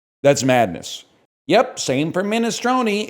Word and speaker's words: minestrone: Same for Minestroni. It's pronounced minestron, not minestrone or minestone.